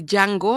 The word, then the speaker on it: Django: Es una puesta en escena que se llama The Django, así se dice, bueno, Django en Django con la soga al cuello, se escribe DJ Ango, ¿no?